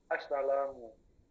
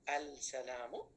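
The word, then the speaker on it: السلام: Am I correct if I say al-salamu by pronouncing this lam? La. No. Assalamu. Yeah. So why this word accepted the lam to be pronounced? This lam is not pronounced in the word as-salamu.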